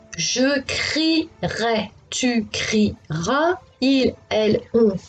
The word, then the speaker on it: crierai: Le souci pour les élèves est de ne pas oublier le E, parce qu'on ne le prononce pas, il est muet.